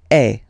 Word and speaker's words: es: And for tu, then you've got this combination of letters, okay? But then basically the sound you will pronounce or you will produce is E, okay? Tu es, all right?